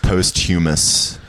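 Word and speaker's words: posthumous: the like it should be pronounced postumus postumus post h m o us oh postum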